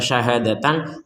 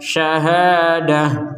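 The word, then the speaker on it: شهادة: kalau kita berhenti ya kalau kita berhenti maka tidak lagi Dibaca syahadatan tapi dibaca Syahadah Jadi huruf ta yang berbentuk bulat ini dibaca sebagai huruf ha syahadatan menjadi Syahadah nah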